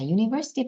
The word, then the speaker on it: university: 모음 앞에는 on을 쓴다라는 거 이 형태고 자, university 발음 한번 보실게요. 이거 좀 헷갈릴 수 있는데요. university 하면 U인데요. U면 모음 아닌가요? 그렇게 질문 나올 수 있죠, 당연히. 자, 그런데 자, 우리 앞서서 음성학에서 의문문에서 했던 그 발음이 나와서 제가 한번 설명하고 넘어갈게요. 자, 이런 경우 뭐 university 또는 uniform. 자, U 발음이 들어가는 단어 있죠. 자, 그거는 모음으로 취급하지 않습니다. 자, 모음으로 취급하지 않아요.